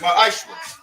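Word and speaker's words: מעשר: Means 10th in Hebrew and it's pronounced ma'ashra.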